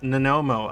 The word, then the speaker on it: Nanomo: Tina says it the right way. It's pronounced Nanomo.